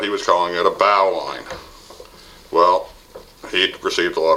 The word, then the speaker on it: bowline: Bow line, pronounced B-O-W, or pronounced actually, spelled B-O-W-L-I-N-E, bow line, like bow of a boat.